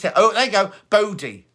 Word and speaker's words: Bodhi: oh there you go body is how you say it bodhi b-o-d-h-i and is that a